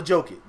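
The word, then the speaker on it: Jokić: Nikola Jokic. Respect that man, Spade. You respect him and say his name right. They said a J make a Y sound.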